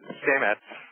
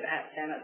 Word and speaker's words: Sametz: She's the director of digital and strategic initiatives at Stamets. Stamets, did I pronounce it right, Tamsen?